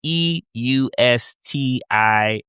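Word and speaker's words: Eustatius: Is it how you say it again? Estas? I don't even know how to say it. It's Eustiatis. It's a small, beautiful island,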